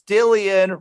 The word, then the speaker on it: Dillion: Now, when you first introduced yourself to me, you were like, it's Dillion, rhymes with a billion.